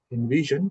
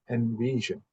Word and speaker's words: envision: And uh I heard somewhere like envision. It's not invision. It is envision.